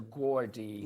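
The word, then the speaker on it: Gourde: Uh, this one is the Gordi. I think that's how you say it. G O U R D E. So, Gordy.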